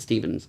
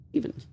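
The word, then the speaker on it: Stephens: It's spelled P H as in S T E P H E N. And we call it Stevens. Not Ste, not Stevens. Stevens.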